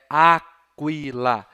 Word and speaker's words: aquila: Então, é assim que ele vai pronunciar a palavra águia em latim. Aquila. Não é Aquila. Não, tá errado. Para com isso. É Aquila. Aquila. Certo? QU em latim, então, vocês vão pronunciar sempre as duas letras, o Q e o U.